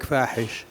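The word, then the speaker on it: فاحش: And on the issue of ISIS, or I prefer to call it Fahish, in Arabic Fahish, which rhymes with Daesh, the Arabic name for ISIS.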